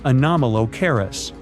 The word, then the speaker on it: Anomalocaris: The name is a bit tricky to pronounce, so I'm not going to. Okay. Okay. It's Anomalocaris, but it just literally means unusual shrimp.